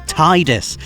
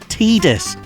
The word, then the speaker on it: Tidus: spell it wrong again on the subject of mispronunciation how do you say this guy's name I always thought it was Tidus apparently I've been getting it wrong for nearly